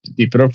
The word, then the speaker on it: Dnipro: conflict, and you would see east of the Dnipro River. Am I pronouncing that correctly, Anthony?